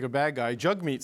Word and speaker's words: Jagmeet: parties um Tim this Jag me Singh guy sounds like a bad guy jug meat Singh is a leader of the NDP because that's how it's pronounced uh what did you